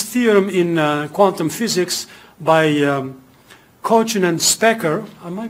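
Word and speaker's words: Kochen: a very famous theorem in quantum physics by Cochin and Specker. Am I pronouncing it right? Cochin or Cochin? Cochin. Cochin and Specker, which says that, well, if you're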